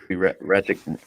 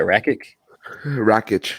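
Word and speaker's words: Rakić: If you had to put money on it though, Ratchet. How you say it? Wreckage, yeah.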